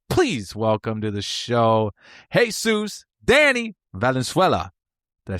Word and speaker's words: Jesus Danny Valenzuela: Please welcome to the show, Jesus Danny Valenzuela.